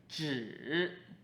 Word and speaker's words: 只: Okay, Our next character first has a 八, and then on top of 八, put a 口 That is "zhi3" 只's meaning is only, or merely.